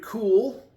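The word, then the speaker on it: Kule: Richard Cool, I guess that's how you pronounce it, K-U-L-E, asked, why am I bald?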